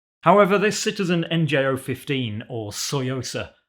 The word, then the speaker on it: Tsuyosa: this citizen nj015 or soyosa as I'm told it's pronounced with a silent T isn't a straight facsimile